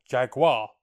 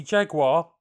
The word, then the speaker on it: Jaguar: Unfortunately, their aircraft, the XF10F Jaguar, or Jaguar to the cousins, didn't pay out. Or at least, not initially. The Jaguar, and I'll use the American pronunciation because it was an American aircraft, originated as Grumman's Model